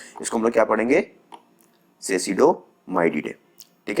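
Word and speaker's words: Cecidomyiidae: ठीक है, sorry for the pronunciation, इसको हम लोग क्या पढ़ेंगे, सेसिडोमाइडिडे।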